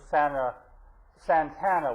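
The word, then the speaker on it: Santa Ana: But the wind was blowing, and those Santana winds is the correct pronunciation.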